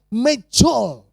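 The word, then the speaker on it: Medjool: Ya, jenisnya itu namanya mejol. Apa saudara? Mejol. Jadi bacanya itu agak gitu ya. Mejol. Ya, supaya kayak orang sana kalau ngomong. Itu mahal, saudara.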